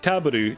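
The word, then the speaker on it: Tarble: When you say his name in Japanese, like Taburu, that's table.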